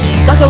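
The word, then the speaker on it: Sakha: Saka Republic is how you pronounce me.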